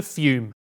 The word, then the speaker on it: Fum: It's spelled f u m and pronounced fume, which makes no sense.